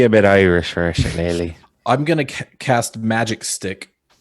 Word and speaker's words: shillelagh: Shillelagh? Shillelagh. Shillelagh. Okay. Oh, Shillelagh. Shillelagh. Okay. Yeah, Shillelagh. It really only works if you try an accent.